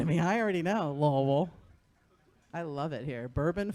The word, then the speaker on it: Louisville: Don't say it like it's spelled. You'll beat the fuck out of me. I already know, Louisville.